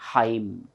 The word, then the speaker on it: hymn: Here, though it is Y, H-Y-M-N, this Y, this underlined letter Y should be pronounced as E only. It is not hymn, it is hymn.